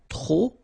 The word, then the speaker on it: trop: Remember, too many, trop, don't pronounce the final P.